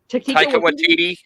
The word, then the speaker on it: Taika Waititi: Taika Waititi. Yeah. Okay, I pronounced it right then.